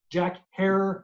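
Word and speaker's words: Jack Herer: so people know and it's jack hair like tara for all those that forget that's his name that's how you say it he's responsible for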